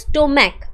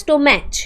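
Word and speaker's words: stomach: যেমন দেখো স্টোম্যাক, আমরা কিন্তু বলি না স্টোম্যাচ, তাই তো?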